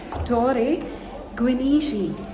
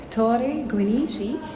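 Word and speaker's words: Torre Guinigi: the stairs now and we asked the person in the ticket counter how to pronounce it exactly and he said it's called Tor gishi so T gishi but we have to climb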